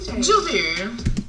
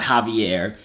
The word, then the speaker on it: Joovier: If you don't know how to say my name, Joovier. That's how you say it. Joovier. Okay. It's not Joovier. It's not Javier. It's not Javier. Whatever the heck y'all be saying. It's Joovier.